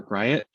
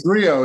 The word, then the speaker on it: Griot: to our next startup i believe it's pronounced great or gryat and from there we have sean miller feel free to correct me it's brio it's a french word for a bard so you know my